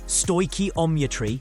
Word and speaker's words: stoichiometry: Stoometry pronounced stoi omitry is the calculations of the quantities of reactants and products.